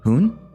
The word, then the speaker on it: Hoon: did you know that in Korean my name is Hoon all jokes aside in Japanese my name is actually pronounced as for my